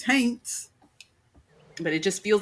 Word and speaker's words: haints: I always feel like I'm saying haints wrong. No, you're saying it right. It's haints.